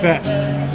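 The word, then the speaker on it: fête: Fet. So Janet says fete is pronounced fet.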